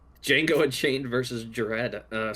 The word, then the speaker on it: Django: Um and uh she pronounced the D in Django and she would not stop pronouncing the D in Django. Django.